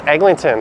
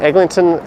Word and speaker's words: Eglinton: Chan says we all pronounce the extra G. Yeah, most people who live here do as well. Kale lives on Holly Street. Is the Eglinton Mall open?